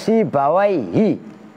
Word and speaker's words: Sibawayhi: Nah itu kalian bacanya harus Sibawayhi.